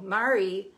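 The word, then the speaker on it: Mairi: Mary is spelled M-A-I-R-I.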